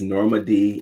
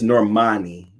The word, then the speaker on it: Normani: cultural clash says wait is norma d is that how you pronounce it normandy is off the 101 in la and they have norman normandy drive um it's normani with no d hey doctor on site